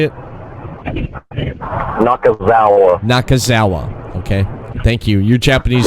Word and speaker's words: Nakazawa: Nakazawa.